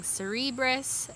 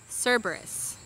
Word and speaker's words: Cerberus: uh lastly the uh lines i kept calling cerebros they are cerberus so i did pronounce that wrong i'm correcting it here so